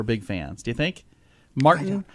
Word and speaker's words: Martyn: Martyn, but it's spelled M-A-R-T-Y-N. Martyn Lewis.